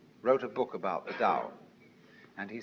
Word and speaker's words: Tao: called the dao tao pronounced dao in the mandarin dialect tao in the shanghai dialect toe in the cantonese dialect take your choice dao